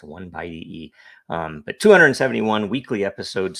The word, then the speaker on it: 0x10E: is the 271st episode that is hex by the way and it's pronounced one by e um but 271 weekly